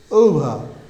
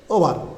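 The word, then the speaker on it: over: গো, শব্দটি হবে গো, ওভা, ওভা, অনেকে বলে ওভার, বাট ইট ইজ not correct. You have to remember that, ওভা, ওভা।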